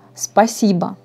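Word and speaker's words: спасибо: par exemple à une offre merci vous dites spassiba tac si je crie 6 pas si bon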